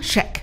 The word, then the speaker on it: Cheick: No, pronounced like Shake Shack.